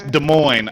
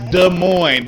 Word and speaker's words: Des Moines: oh Des Moines It's Des Moines I hate when people say it raw It's Des Moines the S is silent oh my God it